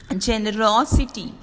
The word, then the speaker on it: generosity: the next one is words ending in i t y take the accent on the anti-penultimate syllable anti-penultimate means third syllable from the end the last syllable is